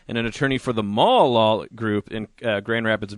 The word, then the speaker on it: Maul: It's actually pronounced Maul, not Mail.